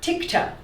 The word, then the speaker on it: TIGTA: the IRS okay um tigda am I saying it right tigda tigta is uh very very